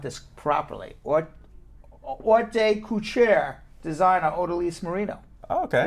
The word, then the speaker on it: haute couture: Now, I had the opportunity to meet with, I can't even pronounce this properly, haute couture designer Odalys Marino.